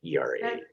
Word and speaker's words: Heuchera: And I have no idea how to pronounce the last one. It's Heuchera. Heuchera.